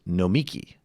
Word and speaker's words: Nomiki: It is Nomiki. Nomiki, not Nomiki. Michael wasn't in studio the day she told Sam the correct pronunciation, but she's a good friend, so please practice and get it right.